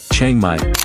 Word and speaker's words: Chiang Mai: Chiang Mai, pronounced C-H-A-N-M-Y-E, means new city in the Lanna language.